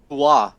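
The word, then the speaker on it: Uhre: It's like Uwa. The R is very, very. There's not like a way to translate the Danish pronunciation Into English. to English. Okay. So there's an R, but it's like so slight you can't hear it.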